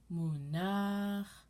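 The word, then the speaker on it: מוּנַח: As I mentioned before, 90% of Hebrew has the accent on the end of the word. And all of these trope names are as such.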